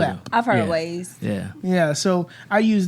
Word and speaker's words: Waze: I use Waze. That's how you say it? Waze. W-A-Z. W-A-Z. Yeah, right? that's the one I I've heard prefer, of. but I thought it was Wise.